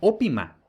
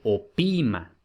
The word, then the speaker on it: opima: Entonces, pues bueno, este opima, por alguna razón, pues quizá puede parecer que se pronuncia ópima, pero no, vemos aquí que aparece un macrón en la penúltima, por tanto, es opima.